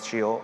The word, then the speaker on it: Scio: Well, it's pronounced Shio, obviously, thanks to Google Translate. It's Latin, the kind that the Pope speaks, so very classy.